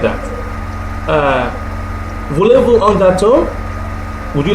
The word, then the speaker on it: gâteau: Voulez-vous un gâteau? Would you like a cake? Gâteau. You see the last expression there is is increased, it's pronounced more loudly towards the end.